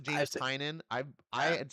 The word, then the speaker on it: Tynan: it's pronounced it's pronounced I've seen it it's pronounced James sign in I I had said it James tinian for so long and seeing people yeah I